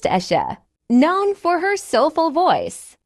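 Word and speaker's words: Asa: At number 3 on our list of the richest female musicians in Nigeria is the legendary Ayra, pronounced Esha, known for her soulful voice, poetic songwriting, and timeless music.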